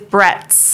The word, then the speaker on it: Bretz: me it really is how do you say your last name correctly it is Brett it is Brett yeah Liz Brett's I